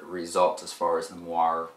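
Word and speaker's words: moiré: as far as the moir goes m o i r e Accent on the E the Nikon's viewfinder is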